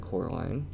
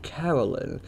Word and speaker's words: Coraline: name wrong you know they keep saying coraline not caroline not caroline not at all he picked up a